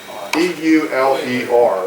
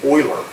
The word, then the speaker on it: Euler: his last name e-u-l-e-r which is pronounced Euler we're dealing with some German pronunciations but e-u-l-e-r he is